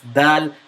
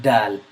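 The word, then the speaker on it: دال: It's dal, not dal.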